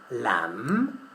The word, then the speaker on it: lamb: In the word lamb, lamb, the letter B is not pronounced.